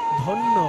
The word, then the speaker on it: ধন্য: বলছি ধন্ত্রে নয় হস্ এই ধ্বনি মানে হচ্ছে ধন্য ধন্য ধন্য শব্দটাকে হিন্দির মতন একটু ভেঙে উচ্চারণ করুন উচ্চারণ হবে ধনীয় জ ফলাটা ইয়